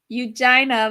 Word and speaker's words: Eugina: It's pronounced Eugina like vagina.